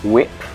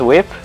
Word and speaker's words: WIP: how to pronounce WIP is it like wick do I say work-in-progress every time somebody tell me how to pronounce WIP properly and I will gladly do it because it is a bit of a pain to say every single time whip okay it is whip wipe whipped chat let's